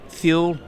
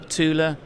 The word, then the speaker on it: Thule: Matt Sims: So come on, - Thyool? Toole? Thule? Graham Clark: It's Thule. I pronounce it Thule.